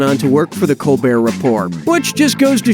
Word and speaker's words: Colbert: Okay, so Stephen Colbert of the Colbert Report changed the pronunciation of his name from Colbert to Colbert, and that's how he became rich and famous.